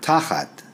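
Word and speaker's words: תחת: The word in Hebrew is the word tachat, and tachat is spelled in English T-A-C-H-A-T, and the word means under, beneath, below, instead of, at the feet of, down, in place of.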